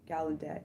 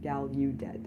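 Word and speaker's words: Gallaudet: Um, he then went on to earn his degree in mathematics from Galedet University. I should say Galudet.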